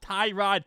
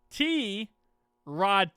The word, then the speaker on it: Tyrod: just now learned yesterday his actual name, how you say it, is not Tyrod Taylor. The announcers call him Tyrod Taylor. Fans call him Tyrod Taylor. Everyone calls him Tyrod Taylor. And he came out yesterday and said it's not Tyrod Taylor. My name is T Rod Taylor.